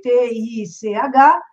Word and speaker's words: Teich: Então, se escreve Teich, Teich, e vocês aprenderão rapidamente pelo Jornal Nacional e tudo mais que se fala Teich, Nelson Teich.